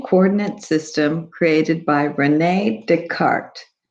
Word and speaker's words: Descartes: system created by rene descartes you don't pronounce the s because it's french so he was a